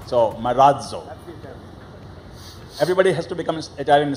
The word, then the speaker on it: Marazzo: We have changed it to Marazzo, and we have a D sound coming just before Z. Marazzo. So Marazzo.